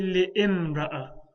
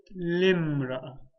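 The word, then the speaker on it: لامرأة: So if I add a lam at the beginning, I won't say li'imra'ah. I'll say limra'ah. I'll pretend that that hamza does not even exist.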